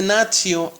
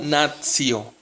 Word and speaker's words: natio: Recuerda que la T, seguida de una I y de otra vocal, se pronuncia como TS. ¿Sí? Entonces aquí vamos a leer esta palabra como natio.